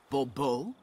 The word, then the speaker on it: Bobo: The emphasis falls on the last syllable. Bobo?